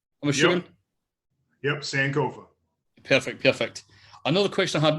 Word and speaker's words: Sankofa: That's how you pronounce it, right? I'm assuming. Yep, Sankofa.